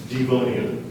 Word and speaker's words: Devonian: Are there any alternate pronunciations? Yes, there's one. Devonian.